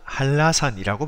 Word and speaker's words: 한라산: 기호를 표시한 이유가 있습니다 우리는 한라산이라고 하지 않고 할라산이라고 발음합니다 그래서 영어로 표기할 때도